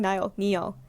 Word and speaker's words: Niall: Niall, that's how you pronounce it. I keep saying Niall.